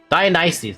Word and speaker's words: Dionysus: To be honest, how did they pronounce his name again? Dionysus.